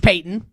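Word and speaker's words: Paton: Payeyton and you're George Payton, not related, last name's not spelled the same, but pronounced the same, and you're the Denver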